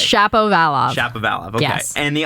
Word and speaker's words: Shapovalov: No, Shapovalov.